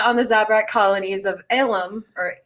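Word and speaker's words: Ilum: the zabrak colonies of elum or ilam it's not alum it's a different two syllable thing that sounds like illum uh and her her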